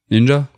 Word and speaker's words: ninja: Mais en lecture sino-japonaise, les kanji se prononcent Ninja.